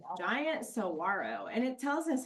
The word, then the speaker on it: saguaro: Giant saguaro, and it tells us how to pronounce that, so that helps. Even though it looks like should be a G sound, in Spanish, that's like a W sound.